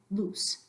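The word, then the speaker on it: luz: there repeat after me loose loose so the idea is in Spanish you're not gonna elongate that vowel loose versus loose that's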